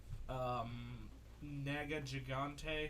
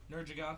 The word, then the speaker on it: Nergigante: You gotta beat up Nega Gigante, something like that. Nergigante. Are you sure it's not Nega Gigante? No, it's Nergigante. Nergigante? They say it in the game.